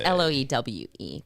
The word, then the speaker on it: Loewe: Loewe. It's Loewe, by the way. Loewe. It's the name's German. That's why the W's pronounced the V.